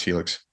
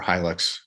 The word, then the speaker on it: Hilux: around the Helix trucks it's pronounced Helix uh or Hilux right anyway I've heard it both ways I I read it